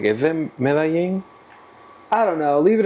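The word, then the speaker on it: Medellín: uh the Bahamas or medin medin Columbia oh meing I don't know how to pronounce is what's wrong with how I said it it's not meing it's mein mein mein same oh you you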